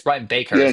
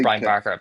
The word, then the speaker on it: Brian Baker: It's It's Brian Baker, not Brian Barker.